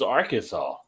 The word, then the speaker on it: Arkansas: is our Kansas no this is Arkansas but it's spelled like Kansas on the thing Arkansas